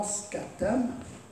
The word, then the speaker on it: scutum: Now, the Roman shield itself, or scutum, that's the way it's pronounced, was a central part of the soldier's defense.